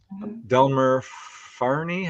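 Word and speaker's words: Delmer Fahrney: Or Delmer Farney, I think I'm pronouncing that right.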